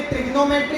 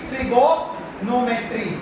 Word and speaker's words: trigonometry: देखो, बोलते ट्रिग्नोमेट्री है बट स्पेलिंग है इसकी ट्रिगोनोमेट्री। ट्रिगोनोमेट्री बोलते हैं, ट्रिग्नोमेट्री।